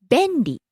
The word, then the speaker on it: 便利: 簡単、 Next, 便利、 convenient. べんり、便利、 Starts high, comes down on the second syllable stays low.